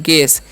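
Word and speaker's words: guess: हम लोग पढ़ते हैं गैस यहां पर जो है ना यू जो है साइलेंट होता है ठीक है तो गैस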